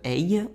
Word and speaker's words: Haigh: On va parler de John George Hay. Ça se prononce Hay, ça s'écrit H-A-I-G-H.